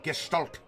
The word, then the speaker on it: Gestalt: Yes, Gestalt. Or Gestalt, if you're to pronounce it a little bit more efficiently. It's kind of the SH.